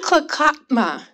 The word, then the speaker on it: Nlaka'pamux: Nlaka'pamux.